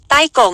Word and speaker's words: ไต้ก๋ง: คน จีน และ ครอบครัว ใต้ ก๋ง เป็น คำ จีน ฮกเกี้ยน โดย ใต้ ที่ ว่า หาก ออก เสียง ใน ภาษา จีน กลาง จะ เป็น ต้า ที่ แปล ว่า ใหญ่ ส่วน คำ ว่า กง หรือ โก๋ง ใน บริบท ของ จีน กลาง และ ฮกเกี้ยน หมาย ถึง ผู้ เป็น นาย เมื่อ เป็น เช่น